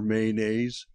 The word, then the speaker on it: mayonnaise: Sorry, Professor Mayonnaise.